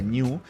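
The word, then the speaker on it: GNU: es ese de hecho género se pronuncia new y la mascota de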